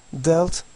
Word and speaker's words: dealt: Deal, dealt, dealt şeklinde okuyacaktık bu fiili. İkinci, üçüncü halde sanki A harfi yokmuş gibi okuyacaktık.